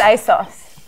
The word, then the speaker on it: ASOS: rewarded for cheating because asus a sous aids us I saw it's pronounced a sauce I've sponsored him in